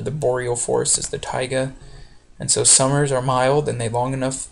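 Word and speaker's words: taiga: name for this is called the tigga T AIG g is how you say that's another name for the Boreal forest is the Tiga and so summers are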